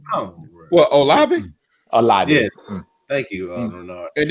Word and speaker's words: Olave: I don't want to mispronounce his name. I yield all my time to Senator Tuck. What? Olivet. Oh, come on, bro. What, Olave? Olave.